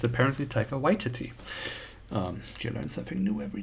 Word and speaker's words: Taika Waititi: Wait, and I recently heard how he actually pronounces it. Waititi. Taika Waititi. Because I would say Taika Waititi. But it's apparently Taika Waititi.